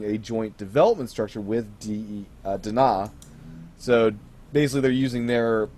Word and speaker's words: DeNA: lot of misreporting going on that the company they're partnering with, which is DENA, Dena, as what I'll pronounce it as because it's Japanese. Are you sure it's so not Dene?